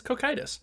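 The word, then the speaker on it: Cocytus: let me google this apparently it's kokitis anyway that's um a river in hades it's a tributary of the uh um the ochron um it's greek which is why i'm terrible at pronouncing it anyway as we were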